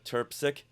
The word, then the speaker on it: Trpcic: so go on social media put in shaa turpi and it's spelled TR RP c i c and you'll